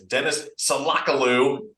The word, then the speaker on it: Deniz Solakoglu: for Green level men's soccer his name is Dennis salakalu that's how you pronounce it I'm sure there are a lot